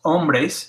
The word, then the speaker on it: hombre: to remember that's right it has no sound at all so remember it's an hombre in those hombres not hombre or hombres un hombre